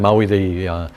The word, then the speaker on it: Maui: Not the island, Maui, in fact it's Maui, if you want to pronounce it right.